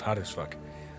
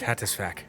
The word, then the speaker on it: hattis: also a festival called hot as technically pronounced hattis it's hattis hattis faac hattis it's all one word it's a f Festival